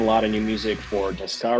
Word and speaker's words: Tocka: Well, I say Tocka. In Russian, it would be Tocka, if you just say. But Tocka with the on the first O is a little bit more North American.